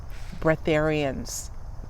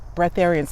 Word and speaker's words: breatharians: the case here you know what they're called breatharians bretharians let me spell it for you b like brac b-r-e-a-t-h a-r-i-a-n-s